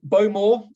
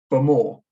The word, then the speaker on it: Bowmore: this is a little map of Isla um bow more or if you want to be really um